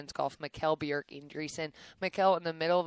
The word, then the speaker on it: Mikkel Bjerch-Andresen: So I kind of Americanized it, say Mikkel Bjerch-Andresen, but the Norwegian pronunciation is Mikkel Bjerch-Andresen.